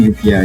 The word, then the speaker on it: UPR: Is it upper or UPR? From last year? They were, I mean, we can just call them UPR, yeah, correct. Yeah.